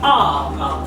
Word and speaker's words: are: Then the word "are" has two pronunciations as well. The one, as I told you, "are," and the second, the schwa sound.